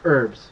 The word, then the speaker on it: herbs: anyway so not not herbs herbs I should say we don't pronounce the h in Canada yeah but that's where